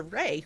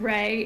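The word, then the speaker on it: Rai: And next, we're going to shoot over to Ray, who is sponsoring tonight's giveaway. Hi, everybody. I am Ray. It is pronounced Ray. I know it's spelled like, but it is pronounced Ray, I promise.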